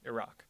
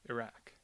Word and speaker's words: Iraq: Democrats were more likely to use the ah vowel, Iraq, which is closer to the actual Arabic pronunciation and which I'll call the more source-like pronunciation.